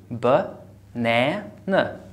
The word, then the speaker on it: banana: For example, when you say banana, banana, banana, which syllable is stressed here? Number two, na. I give it all the energy, banana.